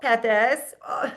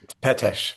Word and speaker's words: Pethes: I am chatting with Pepes. I didn't do it, did I? We practiced in advance. Correct my pronunciation. Petesch, but don't worry.